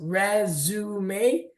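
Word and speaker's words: résumé: So it's really important to pronounce the word as resume instead of resume because that means a totally different thing.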